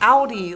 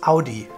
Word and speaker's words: Audi: this Audi Audi Audi here it's like owl I remember I know I used to say it like LD like an Audi belly button howdy and people said it was wrong in the u.s. no it is howdy it's funny when I